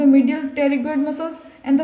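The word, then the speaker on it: pterygoid: Insertion of the medial टेरिगोइड muscles, टेरिगोइड बोलना है क्योंकि पी यहाँ पर साइलेंट है, पेरिगोइड नहीं बोलना है, टेरिगोइड बोलना है।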